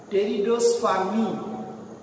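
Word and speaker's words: Pteridospermae: এরপরে চলে যাও টেরিডোস্পার্মি, টেরিডো, PTERIDO, পিটা সাইলেন্ট, PTERIDO, টেরিডোস্পার্মি, SPERMY, টেরিডোস্পার্মি।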